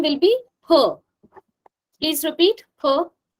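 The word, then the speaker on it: ㅍ: And please, please don't pronounce it as fur. Okay. Fur sound doesn't exist in Korean language. It's always per. Per. Okay. So it won't be fear. It will be peer.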